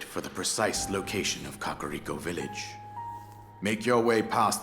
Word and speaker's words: Kakariko: Kakariko, that's how you say it.